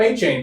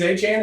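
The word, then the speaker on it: Achane: Like achan. I called him a chain. But he was really good. So he says he's achan. It's achan.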